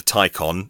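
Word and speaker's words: Taycan: II it's now called the Tyco on spelt taken but pronounced icon gonna be made available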